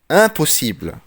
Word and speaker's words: impossible: impossible impossible. صح؟ ما بقولش ام، لا لا لا لا، بقول ان.